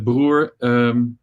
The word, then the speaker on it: Broer: last name in dutch brewer means brother but brewer i think it's only pronounced as brewer in the netherlands and i think if english people would see it and read it they would they would they would say brewer or something and in germany it's brewer so it the pronunciation is different everywhere and i thought fratello